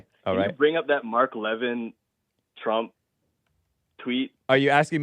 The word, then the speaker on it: Levin: Levin is how we pronounce it.